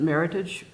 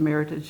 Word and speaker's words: Meritage: had said you know you said that Meritage rhymes with heritage and it doesn't it's French its Meritage we said no I'm sorry but here here's a link to the Meritage Association they explained right